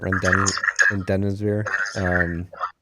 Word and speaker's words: Remdesivir: I can never pronounce it. Remdesivir.